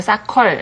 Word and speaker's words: soccer: 사커도 아니고 사컬. 예. R 발음이 들어간 예, 거죠.